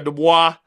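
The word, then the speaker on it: Du Bois: about it it's WB the boy WB the boy or de Bo depending on how you want to say it right he was so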